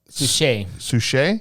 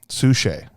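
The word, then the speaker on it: Suchet: lou gossett jr and how do you say david sushee yes he's one of my favorite actors he's amazing as poirot yeah sushi he's also in a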